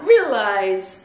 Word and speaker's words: realize: Le E devient un I et le A se prononce E. E. Donc on a realize, realize.